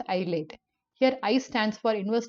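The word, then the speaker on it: ILATE: the function given by i l a t e pronounced as ielt here I stands for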